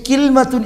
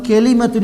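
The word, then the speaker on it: كلمة: ഒരു ഉദാഹരണത്തിലൂടെ മനസ്സിലാക്കാം അതിനുമുമ്പ് കിൽമത്ത എന്നുള്ളതും കലിമത്ത എന്നുള്ളതും പര്യായപദങ്ങളാണ് കലിമത്ത എന്നതിന് കിൽമത്ത എന്നും പറയും ഇങ്ങനെ രണ്ടട് ഉച്ചാരണം ഉണ്ട് എന്നുള്ളത് അറിയിക്കാനാണ് ഇവിടെകലിമകല എന്ന്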